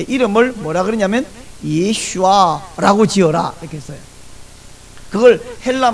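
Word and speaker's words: ישוע: 발음이 훨씬 정확하고 가깝습니다 히브리어로 예슈아 헬라 말로 예수 우리 한국말로도 예수이 예수는 육신을 입고 태어나셨을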